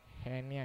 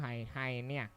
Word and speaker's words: hernia: The correct pronunciation is what? Hernia. It's not hyena. Hyena is an animal.